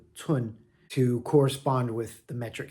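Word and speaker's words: 寸: So again, this component is pronounced tsun, 4th tone, and village is tsun, 1st tone.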